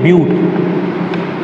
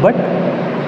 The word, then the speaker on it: but: 2 carbon के लिए है इथ, 3 के लिए प्रोप, 4 के लिए है ब्यूट। लिखते हैं इसको है बट, BUT, लेकिन ब्यूट बोलते हैं, इसका प्रोनाउंसिएशन है ब्यूट, BUTE।